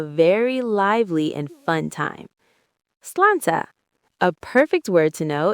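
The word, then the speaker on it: sláinte: It's pronounced slanchcha.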